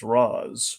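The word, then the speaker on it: Ra's: like everyone's always like there's always the debate of like what's the proper pronunciation like going to the derivation of ratio the Arabic for it I I side with Danny O'Neil I side with the Animated Series I say it's re that's where I come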